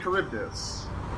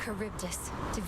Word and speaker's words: Charybdis: Oh, and now we're fighting Charybdis. Charybdis. Nick, remember Charybdis? She just said it. That's how you pronounce it.